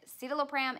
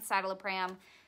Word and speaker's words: citalopram: time it was citalopram this has been pronounced to me two different ways so I'm so sorry if I'm pronouncing it wrong but I have heard it see the low pram and satella pram so I just call it side of the pram that's how I've heard it the most from my